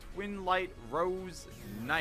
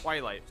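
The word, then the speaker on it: Twilight Rose Knight: I'm gonna normal summon my Twin Light Rose Knight. You know that's not how it's pronounced. Twilight. Missaid that.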